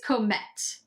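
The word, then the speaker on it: Comète: called Comet or com I think it's Comet I'm gonna hope that's what it is if I'm to it's because it's coom with the accent on the E te Comet the main Accords in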